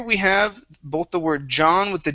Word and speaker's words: John: with John, you said Jean, using a J sound. That's a very French way to pronounce that. So here, the J is pretty tough and it's short.